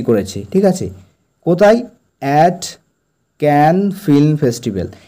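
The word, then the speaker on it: Cannes: ঠিক আছে কোথায় অ্যাট ক্যান ফিল্ম ফেস্টিভাল এর উচ্চারণটা ক্যান অথবা আমেরিকানরা ক্যান এরকম বলে থাকে ক্যান ফিল্ম ফেস্টিভাল বা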